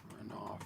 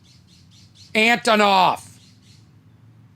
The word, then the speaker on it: Antonoff: Is it Jack Aronoff, producer? Antonoff. You wonder why I have no career. I can't even pronounce the name of the guy, one of the most successful producers. Antonoff.